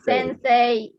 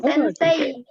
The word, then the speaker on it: Sensei: itu cantik2 tapi dibacanya sense pengen jadi bukan Sensei bukan sente ya Jadi kalau setelah huruf e dalam bahasa Jepang itu memanjangkan huruf e huruf ikhfa halo mereka get bahkan huruf his setelah huruf Ed alam bahasa Jepang maksudnya bukan setelah mulut ya huruf ih setelah bunyi e&m bahasa Jepang itu memanjangkan bunyi e jadi kalau Tensei Jadi